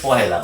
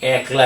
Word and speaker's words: পহেলা: এটি কিন্তু বলতে হবে পহেলা। অনেকেই কিন্তু একটা মানে হাস্যকর অথচ লজ্জাকর। এটি কিন্তু খুবই লজ্জাকর। আবার হাস্যকর বটে এবং এটার মধ্যে যে মূর্খতা প্রকাশ পায় এটি অনেকেই এটির উচ্চারণ একলা করে থাকে।